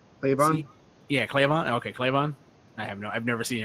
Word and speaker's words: Cleavon: Cleavon? Is that how you pronounce his name? Cleavon? Yeah, Cleavon.